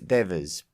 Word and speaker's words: Devers: Keep up the good work, Ruth Devers." Pronounced Devers as opposed to Devers, as most pronounce it.